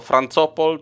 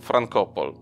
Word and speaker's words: Frankopol: jak wmawiano tę nazwę czy był to francopol czy frankopol widziałem w jednym artykule z lat 20 zapisano ją przez k a w dostępnych filmach historycy wymawiają ją raz tak raz tak jako że czytana przez c może nasuwać negatywne skojarzenia postanowiłem za historykiem Łukaszem Ulatowski wymawiać ją frankopol spółka ta miała w